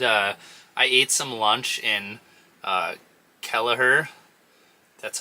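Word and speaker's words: Kelliher: No, I grabbed, I ate some lunch in Kelleher. That's how you pronounce it.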